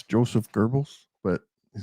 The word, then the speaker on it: Goebbels: I've always Ah, pronounced it Goebbels. So yeah, Goebbels. I've it always heard it as Goebbels. So rhymes with gerbils.